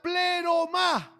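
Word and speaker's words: πλήρωμα: La palabra plenitud en el idioma griego se pronuncia pleromá.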